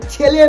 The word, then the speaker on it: ছেলে: আরে অশিক্ষিত তানিয়া, তোকে বলছি উচ্চারণটা ভালো করে বল। দেলে মেয়ে নয়, বল ছেলে মেয়ে।